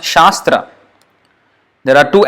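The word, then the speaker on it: śāstra: is problems as sure and a with the line above is aa so sha then s with nothing no dot no accent sir so Shas Shastra tra t is the den driven and rah and so Shastra it's not sastra it's not sastra something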